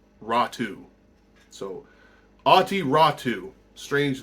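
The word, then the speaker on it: Räty: Prospect ottu rattu not rati um you know it's it looks like it's ratty but it's actually pronounced ratu so ATI ratu strange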